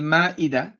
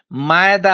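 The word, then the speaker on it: مائدة: দর্শক এবং শ্রোতাদেরকে বলছি এই সূরাটাকে মায়েদা মায়েদা বলবেন না। যে ইয়া এইগুলি হল উর্দুওয়ালা। বাংলাদেশের করাপশন দুর্নীতি শুধুমাত্র যে ভাষাগত হয়েছে তা না উচ্চারণগতভাবে হয়েছে দেখবেন যে কি বলে মায়েদা এখানে আইন আছে নাকি এটা হচ্ছে মাইদা এটা হামজা আল হামজাতুন নিবরা একটা হামজা ওই যে আপনার নিবরার উপরে বসে আছে চুপ করে এখানে আইন আসে কোথা থেকে মায়েদা মায়েদা সর্বনাশ হয়েছে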